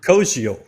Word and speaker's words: Koziol: I want to ask Ryan about maybe another guy who we might need a pronunciation correction on, but this tight end, Tanner Koziol? Koziol.